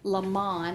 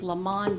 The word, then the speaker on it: Lamon: So I want to send condolences to her family, and it is Lamon, I pronounced that incorrectly, it's Lamon Demetrius Dillon.